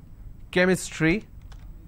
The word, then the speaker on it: chemistry: for example change but when I have the word chemistry CH becomes Cur sound so I say chemistry I say Chrome so I do not really or chromium I do not say chromium or Chrome or chemistry okay likewise there are tons